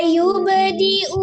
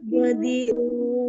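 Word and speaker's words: يُبْدِئُ: Huwa yubdi'u wa yu'idu. Huwa bedi'u wayu idu. Nah, Umi kan bacanya masih gini. Huwa yubdi'u wa yu'idu. Di mana letak kesalahannya? Hamzah, domanya.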